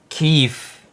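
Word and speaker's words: Kyiv: Keefe. Okay, the proper pronunciation and spelling is K Y I V.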